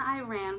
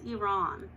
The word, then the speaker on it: Iran: Also, the country's name is pronounced Iran. Iran is a sentence. For example, I ran to Iran.